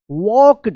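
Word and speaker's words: walked: इसका रूल है कि के से पहले अगर एल आता है तो एल का कोई उच्चारण नहीं होता है।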